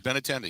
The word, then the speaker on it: Benintendi: Is how you pronounce his name, Ben? If I'm Benintendi. Benintendi.